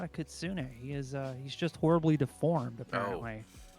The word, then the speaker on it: Kitsune: It's Kitsune. It's Kitsune. It's a what? It's pronounced Kitsune-kan.